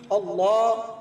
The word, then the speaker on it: اللہ: ہیں، 360 مرتبہ مکمل۔ جب اللہ پر پہنچیں تو آپ نے کرنا ہے اللہ اللہ، یعنی کہ لام کو تھوڑا لمبا کر کے پڑھنا ہے تاکہ آپ کا تلفظ درست رہے اور آپ کو اس